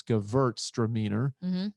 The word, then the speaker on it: Gewürztraminer: But the crazy thing is, it's spelled with a W, but in the old language, W's were pronounced with a V. So it's Gewürztraminer, and Gewürz would be